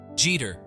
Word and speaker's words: Jeter: easy right now the trickier part Jeter Jeter Jeter think of it like Jeter where G rhymes with B now can you do it say